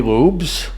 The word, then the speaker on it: Lubs: So Lubs from Halo Home Interiors. Yeah. And don't get thrown by the last name. I did, it's L-U-B, but it's spelled, or it's sounded like with an E.